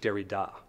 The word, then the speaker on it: Derrida: an anapest sounds like, say a name like Derrida. It's, in a way, it's sort of an inverse of a dactyl, in that we have two unstressed syllables followed by a stressed one.